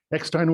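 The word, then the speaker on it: Eckstine: of the letter e to the end still pronounced ex-time ekstein was a very successful singer and band leader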